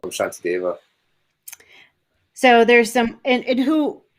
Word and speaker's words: Shantideva: it, Yeah, I said Santi Deva. yeah. They have the S with the little accent over it is a sh sound. Apparently, Right. that's how they spell it sometimes. Yeah, Shantideva means peace god.